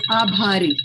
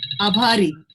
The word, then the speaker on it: Abhari: And abari. Bari, is that right, Purva? Did we say it right? Purva? Yes, Abhari. Abhari. That's in Marathi, India. Abhari.